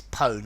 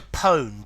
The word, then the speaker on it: pwn: um let's see I I would pronounce this poem and I think the probably most common um uh uh pronunciation of this is tone although various other ones exist the the problem with the pronunciation of this one is this um was originally born in um a a world without sound yeah without uh knowing how